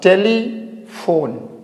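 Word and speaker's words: telephone: लिखा हुआ हमारा पीएच तो इस पीएच को हम क्या प्रोनाउंस करेंगे एफ के रूप में ठीक है करते हैं तो क्या होगा टेलीफोन टेलीफोन आई समझ में यहां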